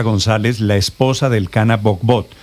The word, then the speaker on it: Bohbot: No sé si pronunció bien el nombre del Canaa. El cana. Bugbut, pero se pronuncia bugbut, pero está bien que lo digas así en en el extranjero siempre lo pronuncian así.